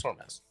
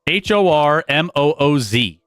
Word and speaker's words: Hormuz: But it's Hormuz. Don't worry about it. Strait of Hormuz pronunciation. Okay. Yeah. Hormuz. Hormooz.